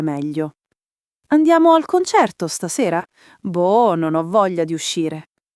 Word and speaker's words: boh: Pronuncia semplice, boh, con la o chiusa, tipo boc, ma senza la K, solo un accenno di chiusura. La vocale è lunga, ma non eccessiva e non serve aggiungere coda.